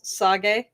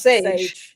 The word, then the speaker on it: Sage: It's the same with there's a very common name in Japanese, Sage, and it's spelled Sage. And English readers would read it as sage. Yeah. But in Japanese, it's Sage.